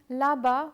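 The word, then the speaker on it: là-bas: dalla and la baa as you can see the letter A is not pronounced differently because of the accent the pronunciation remains the same ah the axon graph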